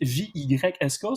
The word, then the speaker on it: JYSK: Donc, les magasins JYSK, J-Y-S-K, doivent se prononcer réellement JYSK.